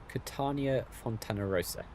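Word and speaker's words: Catania Fontanarossa: How do I pronounce it? Katania Fontana Rosa.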